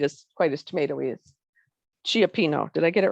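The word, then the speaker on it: cioppino: see a ci it's usually i think always pronounced chuck so it's chiapino it's the word and it is um definitely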